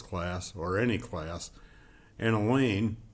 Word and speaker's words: Elaine: or any class an Elaine rhymes with pain the unteachables have been